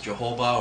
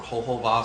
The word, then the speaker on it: jojoba: But some people will actually use jojoba or jojoba, some people pronounce it, for the face because it's a paraffin-based oil.